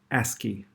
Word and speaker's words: ASCII: We pronounce that ASCII.